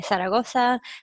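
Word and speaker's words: Zaragoza: taught in said Oso or if you want to pronounce it the Spanish way Saragosa and Salamanca each for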